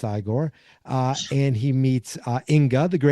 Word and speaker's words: Igor: You must be Igor. No, it's pronounced Igore. But they told me it was Igor. Well, they were wrong then, weren't they? It's pronounced Iiggore.